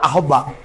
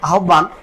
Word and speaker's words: আহ্বান: হবে চিহ্ন ঠিক তেমনি এটা অনেকে উচ্চারণ করে আহবা আসলে এর বানানে হয়তো দেখা যাবে ওইরকম আহ্বান। কিন্তু আসলে কি তাই? এটাকে শুদ্ধভাবে উচ্চারণ করতে গেলে তোমাকে বলতে হবে আহবান।